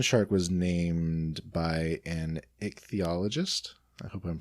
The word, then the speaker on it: ichthyologist: So the goblin shark was named by an ichthyologist. I hope I'm pronouncing that correctly. You got it, ichthyologist?